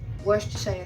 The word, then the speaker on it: Worcestershire: add ketchup, add salt, add everything, soy sauce, Worcestershire sauce, that's how you pronounce it.